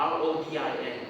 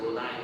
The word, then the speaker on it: Rodin: R-O-D-I-N, yes. It's pronounced as Rodin, not Rodin.